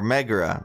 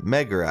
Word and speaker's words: Megara: Or Megara. Megara, I believe is how her name's pronounced.